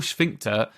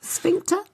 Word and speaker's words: sphincter: a guy is a gay act but your schin doesn't have a but you're what is is that how you pronounce it schin how do you pronounce it sphincter all right why did I add that yeah